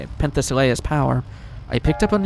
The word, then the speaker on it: Penthesilea: Well, through Penthesilea, that's how you say it, Penthesilea's power, I picked up an unusual signal just past the 20th floor.